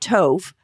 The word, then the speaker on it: Tov: So Lee wrote, Joe started Tove. I think that's how you say it. Tove Tov, yeah.